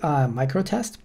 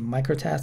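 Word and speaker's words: µTest: It's called MicroTest. Over here you see it's spelled with U-test, but over here you see a microtest, and it also mentioned somewhere here pronounced microtest, right?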